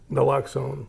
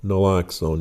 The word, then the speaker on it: Naloxone: Naloxone. Naloxone.